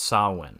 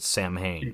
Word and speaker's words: Samhain: let my Irish ass correct you here it's pronounced saline and you wouldn't know that that watching this movie because Dr Loomis calls it Sam hey calls it Sam hey straight up yeah which you know he's he's